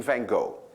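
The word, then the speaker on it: Van Gogh: for instance F and if you really know how to say F the chances are 99% that you're Dutch but I will be kind to you I will mispronounce this the way all of you do and I will call him van go so we have vano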